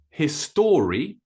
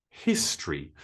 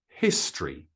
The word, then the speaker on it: history: syllables it's it's not history it's history so notice that that o actually disappears a little bit when we pronounce it history the next one is